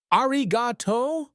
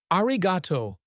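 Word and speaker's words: ありがとう: Then he attempted Japanese. his Georgia a draw mangling the sounds. Ariato. The women burst into genuine laughter, not at him, but with him. His pronunciation was worse than theirs. Arriato, Ko corrected gently, then repeated. Arriato. Arriato.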